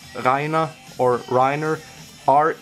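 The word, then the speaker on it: Reiner: flakes uh to the state he called it reneer it's actually pronounced rhina or Riner re e i n e r Riner and this is it this is how it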